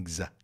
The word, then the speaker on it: design: reação é exagerada e atenção pronúncia inglesa em design design design thinking x tem som de z mesmo riley é transmitir retransmite